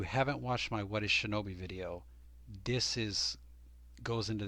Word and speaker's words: 竊盗: we're using the word seto but you need to know it's actually going to be pronounced shinobi and that's why i have it on big letters on the screen both will be pronounced shinobi which it understandably could